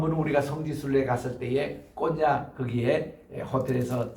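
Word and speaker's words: Konya: 오늘 터키의 현지 발음이 콘야입니다. 이 콘야는 바울의 전체 이렇게 그 전도한 도시인데 지금 가보면요 이슬람이 얼마나 강한지 몰라요.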